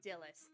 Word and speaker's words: Dillis: No, they do say that his name Dillis. They do actually say his name Dillis because there is voice acting in the game.